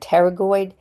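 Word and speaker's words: pterygoid: This word that starts with a P is said terragoid. The P is silent.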